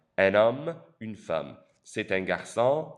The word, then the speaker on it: homme: Notice the H in is silent. C'est un homme.